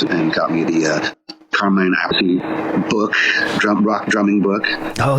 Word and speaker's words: Appice: Appice. That's how you pronounce it.